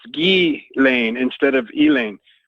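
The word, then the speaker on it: Ghislaine: like Elaine but it's gay Lane instead of Ealing the S is silent because it's a French name and you know I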